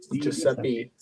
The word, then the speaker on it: DiGiuseppe: DiGiuseppe.